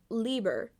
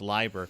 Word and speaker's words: Leiber: Express by uh Fritz Lieber Liber Fritz liver liver Liber l-e-i-b-e-r and according to German pronunciation rules you pronounce the second vowel in the combo so it's Libra he actually went on